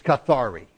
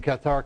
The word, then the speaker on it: Cathar: Cathar, all right, the English word is Cathari, but we were missionaries in Cathar country, and I learned Cathar. So you're going to put up with my French pronunciation of it.